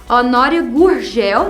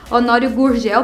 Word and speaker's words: Honório Gurgel: é super diferente aqui Honório Gurgel né a pronúncia dela bem carioca Honório Gurgel Para mim seria Honório Gurgel né porque eu sou aqui de Goiás Honório Gurgel forever Honório